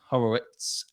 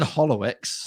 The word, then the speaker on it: Horowitz: Hey, did you hear how I said it? Horowitz. That's how you say it. It took us fucking like a year to figure out how to say it. Horlicks. Oh yeah, I remember your problems with it. Yeah, he was saying Hollowitz. Horowitz. Or Horowitz. Horowitz. It's Horowitz. Horowitz.